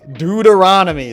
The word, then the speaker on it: Deuteronomy: it's d u d e r o anomy Deuteronomy that's how it's spelled it's right there if you read if you we live in a Christian Nation I'm a Christian person it's dud aromy you can't you can't replace doomy with swings